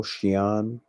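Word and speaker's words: Sion: it's like sean cyan sono sono shion that's how you pronounce it like what the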